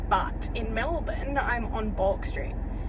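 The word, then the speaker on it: Bourke Street: I don't know if that's how you say it. Back street. Bork street. Back. Back sounds more right. It's like Queen Street and Back Street. Balk Street. Whatever. It's spelled with an O. So So don't judge a little dyslexic girl for calling it bulk.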